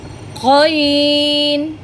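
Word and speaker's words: ق: আমি আবারও বলছি, আইন, আইন, কইন। এই কইন উচ্চারণটা গলার ভেতর থেকে উচ্চারণ হবে। গলার ঠিক শেষাংশ থেকে আমি আপনাদের প্রথম ক্লাসে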